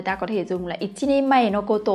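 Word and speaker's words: 一人前: Các bạn nhớ là với trường hợp này chúng ta không đọc là hitori mà các bạn sẽ phải đọc là ichini mae.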